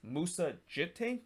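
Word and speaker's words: Djitté: but i believe it's musa jit that's how you pronounce i believe the d is actually silent but if it's not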